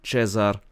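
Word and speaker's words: Cezar: So, Emperor Caesar will be Chzar, Stefan will be Stefan, Michael will be Mikhai and so on.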